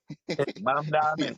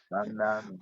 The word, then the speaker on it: Mamdani: I just want to make sure I don't mess up the pronunciation of his name. Get it right. That's what Mamdani. get it right. Mamdani.